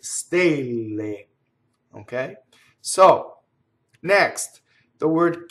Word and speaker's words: stelle: what is its close the word for stars the a is closed right stay lame ok so next the